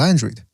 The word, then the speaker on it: Andrade: from what I understand, he prefers to be called Andrade because he's half Panamanian or something, but he doesn't like it when people pronounce his name with the Spanish pronunciation.